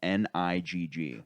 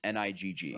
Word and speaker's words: Nigg: And he's a white guy named Steve Nigg. And it's pronounced that. I'm not saying it, but it's pronounced ER? that. No, just Nigg. Oh, It's okay. pronounced like the beginning of the N word.